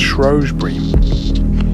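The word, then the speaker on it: Shrewsbury: route down through shury it's Bel Shrewsberry but it's pronounced shrb I think it's 841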